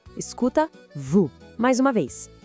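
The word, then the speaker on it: vous: E claro, o S também é mudo. Escuta Vu. Mais uma vez, Vu.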